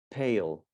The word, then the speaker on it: pale: a pen pal and if i add the letter e pale goes back to the alphabet sound does that make sense